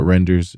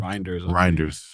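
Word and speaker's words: Reijnders: But and they got Renders as well. Is that how you pronounce his name? Reinders.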